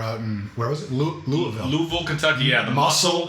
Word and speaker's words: Louisville: So we went to Louisville. So Louisville, as they call it. That's how they say it.